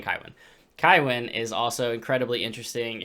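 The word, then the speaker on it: Cywen: His sister Kywin, or Cohen as the Audible book pronounces it, and I think Philip Chase said it would be Cohen, so Cohen. I'm saying Kywin.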